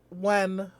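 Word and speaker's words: Nguyen: fighter uh Johnny uh when it has you know all the the the the Vietnamese have like the ngg U ye n spelling but it's pronounced when I think so Johnny when or when sorry I keep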